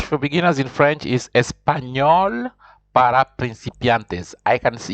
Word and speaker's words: español: of the end when when you see that accent it means you have to pronounce that and as if it is something like new so it is espanol espanol we never see that